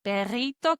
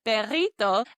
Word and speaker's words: perrito: So I added that to say a little hot dog, perrito, and I knew that this had a double R in the word. So I pronounced it as that trilled, rolled R sound.